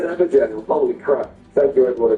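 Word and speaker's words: Evergaol: And if you fall for one in the Evergel, yeah, I know, I said it right, I said Evergel, holy crap.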